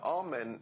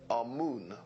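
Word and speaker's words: Amun: important deities was amen now amen is the pronunciation that the hebrews give it and some scholars agree to use that pronunciation our moon is the pronunciation given to it by one of the old european scholars plutarch and the language of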